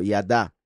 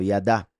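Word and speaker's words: ידה: significados de la palabra yada o del verbo yada que son la yud la dalet y la he vean como ahí la he final se pronuncia a porque es el verbo yada la única diferencia ahí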